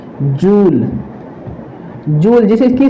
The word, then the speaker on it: Joule: जूल। जूल, जिसे इसकी spelling होती है JOULE, जूल।